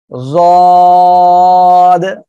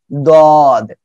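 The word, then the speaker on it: ض: এই অক্ষরটা হবে জদ, অনেকে কি বলে দদ, দুটাই হবে, সমস্যা নাই।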